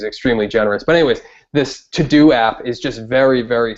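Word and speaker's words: Teux Deux: for me like I have a um a to-do app that I use called um I don't know how to pronounce it but it's to do but it's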